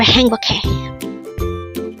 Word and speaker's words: 행복해: Again, that's three syllables for HAENGBOKHAE.